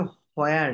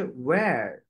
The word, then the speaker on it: Where: এটার উচ্চারণটা হোয়ার না, এটার উচ্চারণটা হচ্ছে ওয়্যার। ওয়্যার, এই এইচটাকে কাট করে দিবেন, এটার উচ্চারণ হয় না, হয়ে যায় ওয়্যার।